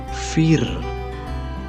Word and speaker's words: vier: tulisannya VR Hai ini kalau biasa Jerman bilangnya ver nah ini temen-temen pernah